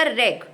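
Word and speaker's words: wreck: इसके बाद जो नया शब्द बनेगा वो बनेगा आर ई सी के रेक। ठीक है? डब्ल्यू ऐड करोगे तो नया शब्द हमें मिलेगा रेक।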